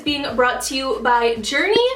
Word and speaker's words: Jurni: I also just wanted to say really quickly that this video is being brought to you by Journey. It's spelled J U R N I.